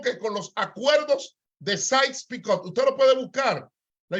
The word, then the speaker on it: Sykes-Picot: Porque de decirlo en español es diferente, pero se pronuncia los acuerdos Sykes-Picot.